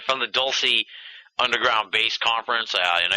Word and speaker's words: Dulce: from the from the Dulce it's Dulce right that's how you pronounce it yeah douy Dulce whatever you want to say all right from the D From The dulsey Underground base conference I